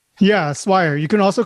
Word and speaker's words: Swire: Did I pronounce that correctly? Yeah, Swire.